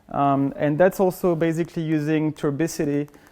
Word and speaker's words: turbidity: And that's also basically using turbidity. I can never pronounce that word. Is it turbidity? The one with like the water that's kind of dirty. Turbidity, thank you.